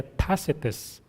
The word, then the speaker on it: Tacitus: Sa Google, merong how to pronounce. Ang pronounce pala niya, Tacitus.